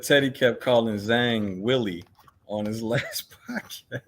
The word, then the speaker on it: Zhang: Well, it's Zhilei Zhang is actually how you pronounce his name. Zhilei Zhang, and for some reason, his management team, the Lane brothers, thought for some reason, I guess maybe because they reside and work out of New Jersey, they thought it rhymed because of the spelling with bang.